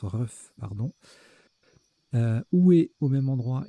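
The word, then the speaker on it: RUGH: Notez Rouf, R-U-G-H, a également 33 points. Ça se prononce Ruf, pardon.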